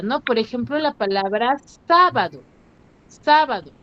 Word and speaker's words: sábado: Por ejemplo, la palabra sábado. Sábado. ¿Cuál es la sílaba tónica, me dijeron? Sábado. En la sílaba, Sa. en la sílaba sa. ¿Cierto? Sa. Entonces, su sílaba tónica es sa.